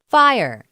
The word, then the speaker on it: FHIR: is abbreviated fhir and is pronounced fire it combines the best